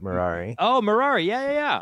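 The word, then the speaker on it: Merari: how you pronounce that marari it's like Ferrari but marari oh marari yeah yeah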